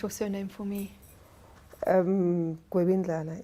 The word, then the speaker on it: Gwebindlala: Hey, I'm here with Nkosi Nosintu Gwebindlala. I'm saying it correctly.